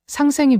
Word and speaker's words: 상생: 상생 쌍이에요. 쌍 상 생 생.